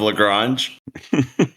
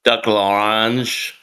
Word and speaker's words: Lagrange: Wait, I think Lagrange horns with orange. Only if you say it like a maniac French person.